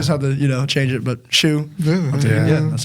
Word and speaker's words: Hsu: No, that's the same reason why my TikTok name is SHOE, because it's pronounced shoe, like a tennis shoe.